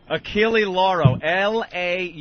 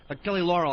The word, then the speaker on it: Achille Lauro: Achille Lauro. Lauro. The L is silent. It's the Achille Lauro. I've been saying it wrong. What year was You that? have? Achille Laurel, I thought it was.